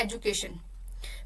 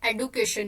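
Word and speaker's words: education: हमारे पास वर्ड है एजुकेशन। पहले हम इसको एजुकेशन बोलते थे, अब हम इसकी जो प्रोनाउंसिएशन करते हैं वो हम करते हैं एडुकेशन के थ्रू।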